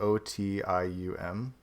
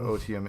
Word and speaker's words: otium: And so I like latched on to this word like I O like O T IU M O otium I think it's pronounced and it just means